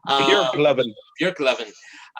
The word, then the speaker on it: Björklöven: I have Björklöven. It's actually like pronounced that. Björklöven.